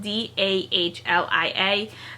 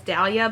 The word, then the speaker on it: Dahlia: character's name is dahlia her name is spelled d-a-h-l-i-a the whole time i was reading it i was pronouncing it in my head as dahlia but i guess it could be delia as well um but i'm gonna go with dahlia as i'm saying it